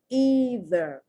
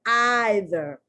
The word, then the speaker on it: either: The Brits say either or neither, spelled exactly the same, but they put the emphasis on the long I. We put the emphasis on the long E.